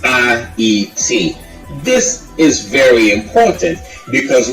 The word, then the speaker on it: Haiti: And he informs us that it is to be pronounced A-E-T. A as in alone. The proper pronunciation is A-E-T.